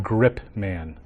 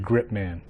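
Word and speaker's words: Gripe-man: it should be pronounced mr. grip man mr. grip man I take hold of it and I won't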